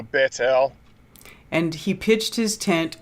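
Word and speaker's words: Bethel: how to say it it's baits l bait okay yeah that's that tav it's like so bettel and he pitched his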